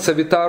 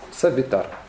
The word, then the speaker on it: Савитар: Сам этот савитар, он именуется, в этом слове на самом деле нет ударения. Савитар, там три кратких гласных.